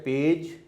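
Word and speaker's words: page: पेज में पी की stroke है, ए वावल है, और ये जो जी है ये जे की साउंड दे रही है। एंड वाला ई साइलेंट है, उसको हम शो नहीं करेंगे।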